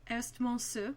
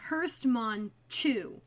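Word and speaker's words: Herstmonceux: Or if you go into the Google Translate and press the English pronunciation, it's Hurstmanchu. Yeah, it was bad. Or Hurstmanchu. Hurstmanchu, and even I wouldn't have said it that wrong.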